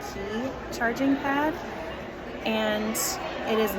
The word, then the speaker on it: Qi: FYI, you can use a wireless charging pad that is not the tandem Mobi specific one, as long as it is a QI, I think it's pronounced key charging pad, and it is not magnetic.